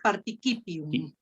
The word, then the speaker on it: participium: Nomen, pronomen et participium. Muy bien. Nada más acuérdate que aquí vamos a leer nosotros como una K. Una K. Entonces, participium.